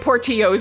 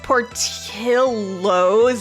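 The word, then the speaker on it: Portillo's: my southern ass is so used to seeing something with two L's next to each other and reading it like a Y because that's how it is in Spanish.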